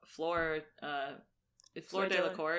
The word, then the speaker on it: Fleur Delacour: And they also Fleur Delacour, is that how you say it?